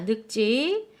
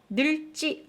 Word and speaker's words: 늙지: 자, 늑지. 이렇게 자음 앞에서 리을 없고 기역이 대표음이에요.